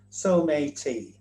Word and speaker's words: Someity: So the Paralympic mascot is called Someity, that's the actual spelling of the word, that's it in Japanese and that's how we pronounce it in England So-may-tee.